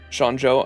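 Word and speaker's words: Xianzhou: but not sure yeah because that the x is pronounced like sh so it' be Shan Shan Shan and then I think the zh would be pronounced more like a j right just like you put so it' be Jo shanjo and I know it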